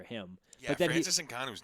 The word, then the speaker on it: Ngannou: And then was it Ngakwe? Is that how you say his name from the UFC? No. Oh, Francis Ngannou.